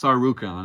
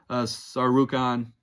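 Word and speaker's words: Tsarukyan: but I think it's sarukon I think that t is silent so Armen tyar rukan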